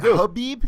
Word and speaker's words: Khabib: but well you guys Habib just with an H abib yeah the K is silent it's a well it's